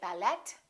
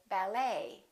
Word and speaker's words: ballet: e t ending and in the French language the t is almost always silent so English speakers pronounce it the same way we don't say ballet we say ballet a few more ET